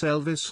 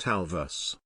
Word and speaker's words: Elvis: "It's Elvis, not Alvis. #ThisMorning, one person shared on X while a second noted, at This Morning Hammond is merging Elvis and Alvin the Chipmunk to get Alvis."